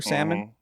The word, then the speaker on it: salmon: I pronounce the L in salmon. Well, you shouldn't.